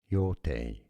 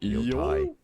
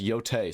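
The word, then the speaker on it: Yōtei: The Japanese pronunciation, Yotei. I was right. Tei, not Yotai. Yotei. Well, there you go. It's pronounced Yotei, so everybody stop pronouncing it Yotei.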